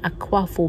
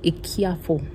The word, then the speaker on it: Akuafo: Ça s'écrit Akwafo, mais je sais que c'est Ekiafo. Ekiafo. Parce que j'avais une amie gagnante et son nom s'écrivait comme ça.